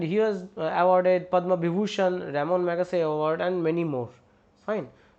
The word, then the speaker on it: Ramon Magsaysay: And Ramon Magsaysay Award, actually the pronunciation is Ramon Magsaysay Award in 1963.